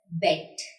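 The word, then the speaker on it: Bett: There are two consonants together. Like here, E के बाद double T आ रहे हैं, दो T आ रहे हैं. So this will be pronounced short.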